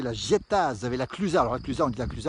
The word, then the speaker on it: La Clusaz: l'avoine une commune qui s'appelle la diète ça s'écrit l'âge états avaient la clusaz elle aurait plusieurs des accusés en prononcent pas